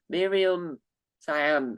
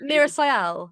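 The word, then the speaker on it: Meera Syal: Miriam Cyan. I'm mispronouncing the name, Oh, but Mira Sayal. mispronouncing the name like it's no one does this. But she was Mira Sayal.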